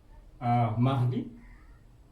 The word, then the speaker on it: mardi: Selasa, mardi, M A R D I. Mardi. Okey. Lundi, mardi. Rabu, mercredi. Mercredi. Mercredi ejaannya M E.